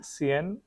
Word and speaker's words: sian: So maybe the wording is Sian, Sian, but actually it's pronounced as if you know there is a river Seine, so it's he says Sien, so something Sian, like yeah.